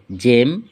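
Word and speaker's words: gem: জি এর পরে ই, আই, ওয়াই থাকলে উচ্চারণ জ হয়। যেমন জিইএম জেম, জিআইএএনটি জায়ান্ট, জিওয়াইএম জিম।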